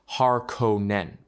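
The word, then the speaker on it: Harkonnen: In stark contrast to the noble at Trades stands their ancient rival, House Harkonin, pronounced Haron Nen.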